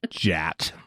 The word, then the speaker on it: Jat: It's Jat. Sister Jat. Yeah, okay. Sister Rhymes with Jat. cat.